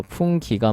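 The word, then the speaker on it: fungi: 그다음에 균계가 어 풍 어 풍 풍기라고 읽어야 되나? 풍 예, 하여간 좀 어려워요. 라틴어대로 읽어야 되니까 풍기가 맞겠네요.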